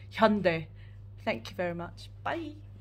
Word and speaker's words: Hyundai: call um the Korean company Hyundai is Hyundai I know it's probably their fault for pronouncing it like that on the advert and stuff but actually it's it should be Hyundai thank you very much